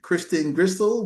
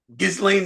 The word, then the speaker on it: Ghislaine: But Leo, did you know that he had a 9-hour meeting with your friend, Kristen Gristle Maxwell, whatever her name is? What's her name? Ghislaine Maxwell, right? Ghislaine Maxwell?